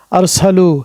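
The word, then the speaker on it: أَرْسَلُوا: পুরুষ পার্টি তখন হবে আরসালু শেষে একটি ওয়াও যুক্ত হলো এবং একটি আলিফ যুক্ত হলো এই আলিফটি লেখা আসে কিন্তু উচ্চারণে বা বানানে আসে না এখন মহিলার ক্ষেত্রে যখন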